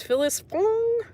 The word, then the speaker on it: Phyllis Fong: I don't remember it her name is Phyllis Fong it rhymes with thong she was also involved